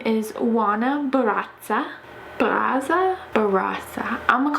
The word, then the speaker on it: Barraza: I found a woman named JUANA Barraza, and I know that you're supposed to roll your R's whenever you say her name.